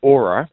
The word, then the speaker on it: Auror: have some background on aora cuz you're a relatively new company though I understand expanding fast yeah so uh it's pronounced Aura Aura Aura uh but